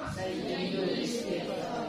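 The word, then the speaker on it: سيد الاستغفار: sayidu istigfar ah seharusnya Bacanya apa sayidul istigfar kalau kita biasanya bacakan Sayyidul istigfarah seharusnya kalau mengikut kaedah bacaannyaidulis ya kenapa Karena di sini hamzahnya Hamzah was Hamzah was harus kubur atau tidak dibaca kalau dia di di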